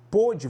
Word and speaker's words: pôde: Pôde, você tem ali ó, um O fechado. Pode, você tem um aberto, tá?